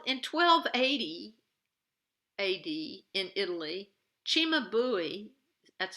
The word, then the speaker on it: Cimabue: Okay, but now in 1280 AD in Italy, Cimabue, that's how you pronounce this artist's name, is making an altarpiece.